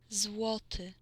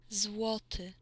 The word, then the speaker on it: złoty: How do you pronounce that shit? Bro. Złoty. Złoty.